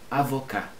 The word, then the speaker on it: avocat: Avocat. Avocat. Avocat. Não pronuncia o T.